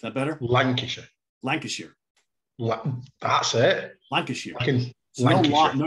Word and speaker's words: Lancashire: Steven Reid from Perth, Scotland, and from Lancashire.